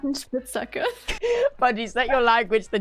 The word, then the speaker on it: Spitzhacke: Buddy, say Spitzhacker.